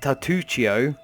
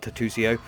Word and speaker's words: Tartuccio: going to say halfling and tatuccio is pronounced that way not tattoosio um or so maybe